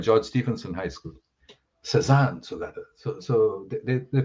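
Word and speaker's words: Cézanne: in a school called george stephenson high school cezanne so so they they pronounced it susan so i had to say no it's not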